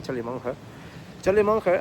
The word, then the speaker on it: Charlie Munger: Y es que realmente Charlie Munger, se pronunciaría Charlie Munger ha sido durante décadas el abogado principal, porque